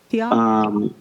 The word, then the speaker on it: Antioch: Is that the pronunciation? Antioch? Yes, and.